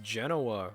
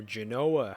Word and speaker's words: Genoa: Thank you for joining me, and let's play some more Europa Universalis IV with a Mare Nostrum expansion as Genoa, or Genoa, however you want to pronounce it.